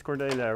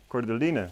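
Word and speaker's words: Cordyline: It's Cordelia, right? Yes, my mother says. No, she wasn't saying anything. This is Cordelia, right? Okay. Cordeline, that's it. I always mispronounce that name.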